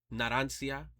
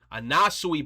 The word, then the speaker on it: Anasui: Naransia. Nasui. I keep getting his name wrong, bro. Anasui, bro. I keep calling him Naransia, bro.